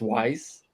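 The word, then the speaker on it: Wwise: had so far in the prototype so it's pronounced wise and it's it's an audio middleware okay everyone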